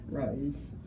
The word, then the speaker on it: rose: Good, it does sound a bit like a Z, doesn't it? But it's spelt with an S, Rose.